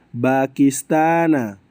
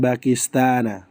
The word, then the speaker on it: Pakistan: Aku dari Pakistana. Dari negara Pakistan. Pakistan. Bacanya Pakistan. Bukanistan paham paham ikhwan ya. Ana min bakistana bukan ana ministani. Karena Bakistana termasuk mamnu minasarf.